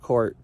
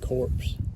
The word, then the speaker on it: corps: So this is pronounced corps, not corpse. Don't feel bad. We had a president who pronounced it corpse.